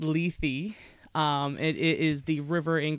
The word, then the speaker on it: Lethe: I've encountered that word in reading I've always pronounced it left and it wasn't until we decided to come